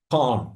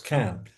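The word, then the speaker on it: Cannes: Renia and I met at the Can Film Festival, and that's the way you pronounce it, by the way. Americans think they're doing it con. No, it's not. It's Can at the Can Film Festival uh oh, over three years ago.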